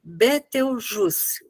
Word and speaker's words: Betelgeuse: Se escreve Betelgeuse, mas se lê Betelgeuse. A Betelgeuse. Você fala um C como se fosse C no final, mas o E quase mudo.